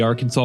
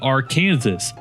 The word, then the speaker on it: Arkansas: near the Santa Fe Railroad crossing over the Arkansas River. Oops, I'm sorry. Uh, yeah, I forgot the local dialect. Um, the R Kansas River.